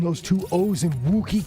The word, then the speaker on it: Wookiee: Am I pronouncing those two O's in Wookiee correct? What? Wookie? Wookie. Look. It's like look.